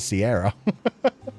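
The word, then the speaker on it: Ciara: But yeah, there was the singer who had the name written like Kira, the Irish name, but pronounced it Sierra.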